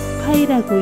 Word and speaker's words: π: 원주율은 그리스어로 페리페리아라고 하고 첫 글자를 따서 나타내고 파이라고 읽어.